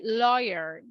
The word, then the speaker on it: lawyer: the truth and then what is the pronunciation of this word la la that sounds more like an O right lawyer and what is a